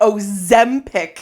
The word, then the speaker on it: Ozempic: trained myself now to say Ozempic.